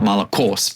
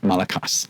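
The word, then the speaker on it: μαλακός: those that are wondering I I am doing what is is hypothesized to be a somewhat more correct pronunciation of the Greek of the time not malakos but malakas yeah that is strongs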